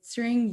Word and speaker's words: Tshering: My name is Tshering. My name kind of sounds like the word searing, S-E-A-R-N-G.